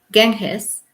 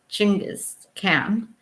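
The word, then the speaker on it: Chinggis Khan: and the upper world genghis or more correctly chingus cam is also known as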